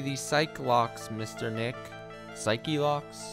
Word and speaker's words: Psyche-Lock: ace attorney i've seen a lot of people pronounce psych lock as psych lock this is wrong the correct pronunciation is psyche lock thank you for your time says the original